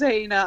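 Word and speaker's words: Jana: Hana. I didn't take my husband's name. Oh, indeed. I bet you're still married. Yeah. Sorry. Hana spelled with a J, and his name is Radulescu.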